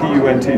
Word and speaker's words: Punt: It's spelled P-U-N-T, so it looks like punt. We pronounce it punt just because punt sounds kind of weird.